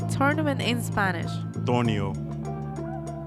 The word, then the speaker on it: torneo: tournament how do you say tournament in spanish tornio so it's it's pronounced torneo that's right how do you